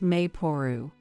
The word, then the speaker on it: Maple: saw this name online written as Maple but pronounced mapor combined with our last